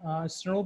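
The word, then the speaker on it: snRNP: ठीक है, SNRPS बहुत इंपॉर्टेंट है, ऑफन इसको स्नूप भी प्रोनाउंस करते हैं।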